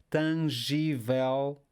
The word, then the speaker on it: tangível: Então, novamente, palavras terminadas em L, nós vamos colocar a sílaba tónica na última sílaba, a não ser que existam acentos nessa palavra. Flexível, flexíveis, previsível, previsíveis, tangível, tangíveis.